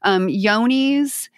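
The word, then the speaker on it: Johne's: especially for yoni's and yoni's is spelled with a j it looks like john's j-o-h-n-e-s but yoni's is fecal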